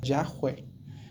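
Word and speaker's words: Yahweh: nombre de Dios en en hebreos se pronuncia sería yahwe que tiene que ver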